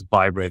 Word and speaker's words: Viberate: in terms of vibrate it's actually pronounced as vibrate as a vibrating sound we just put the